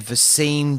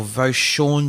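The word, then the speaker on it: Vosean: Devin Singletary, Dawson Knox, and Vasine Joseph, or Voshawn Joseph. I probably butchered another name. I think you got it right the second time.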